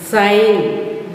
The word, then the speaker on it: sign: Sign, G is silent.